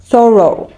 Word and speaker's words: thorough: the second one, but it has a different pronunciation and also meaning. Let's see it. Thorough.